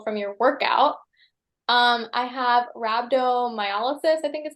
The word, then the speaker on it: rhabdomyolysis: I have rhabdomyolysis, I think is how you say it.